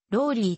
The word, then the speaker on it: Raleigh: れているなお使命は日本語では rolly と表記されるが現地の発音ではラリーに近い本項目におい